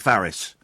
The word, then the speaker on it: Farris: Is that how I pronounce it, Farris? Yes, it is.